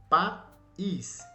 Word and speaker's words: país: Viajarei para um país. Olha o I como é forte.